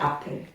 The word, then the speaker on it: Apfel: 근데 독일어는 A는 A라고 안 하지 뭐지? A라고 그래. A는 이런 A 소리 나. 무조건 다 A야. 그러니까 뭐지? 뭐더라? 그 무슨 단어? 애플. 응? 애플 있잖아. 걔네는 그냥 아플. A이기 때문에. 달라.